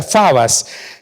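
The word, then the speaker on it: φόβος: palabra temor proviene de la palabra griega que ustedes ven ahí fogos que se pronuncia fabas que como ya lo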